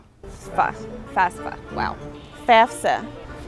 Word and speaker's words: FAFSA: And the way you pronounce this word is fafsa.